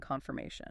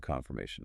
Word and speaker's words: confirmation: Try to clearly pronounce all four syllables in confirmation. Do you have a confirmation number?